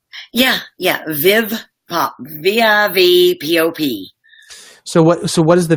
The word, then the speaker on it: Viv Pop: Viv Pop, am I pronouncing that correctly? Yeah. Viv Pop, VIVPOP.